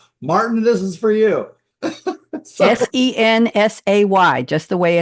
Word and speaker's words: Sensay: Sensay, just the way it's pronounced.